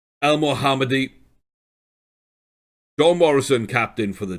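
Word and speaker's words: El Mohamady: mccartiff alex smith he's ahmed el mohadi ah that's not how you say his name el mohammadi john morrison captain for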